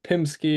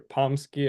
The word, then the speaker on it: PMsky: So this could be also Pimsky or Pomsky, I think is a type of Pomeranian, maybe. Pomsky, oh, Pomeranian Husky, yeah. So any names are fine.